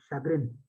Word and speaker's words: chagrin: the answer to this one the word is pronounced as Chagrin the opposite of this word different answer different